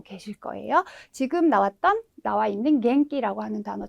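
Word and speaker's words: 元気: 얘는 우리가 기본적으로 우리 여러분들 키라는 발음을 많이 알고 계실 거예요. 지금 나와 있는 갱기라고 하는 단어 잘 아시죠?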